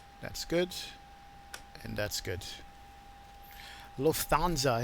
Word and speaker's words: Lufthansa: good and that's good Lufthansa is how you pronounce it correctly with the English pronunciation Lufthansa okay I'll practice